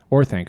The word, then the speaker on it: Orthanc: Orthanc.